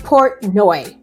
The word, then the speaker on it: Portnoy: P-O-T, Portnoy. That's how you pronounce it.